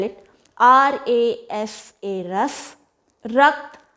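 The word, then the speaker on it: rasa: Ras, or maybe I'll just spell it. R-A-S-A, ras.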